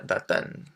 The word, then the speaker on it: d'Athènes: If the city you come from starts with a vowel sound, you're going to change the de from de to d apostrophe, just to make it easier for people to pronounce. So we say je viens d'Athènes.